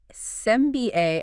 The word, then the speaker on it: SAMBA: We're digging into a synthesis called SAMBA, S-A-M-B-A. Right. Pronounced like the dance.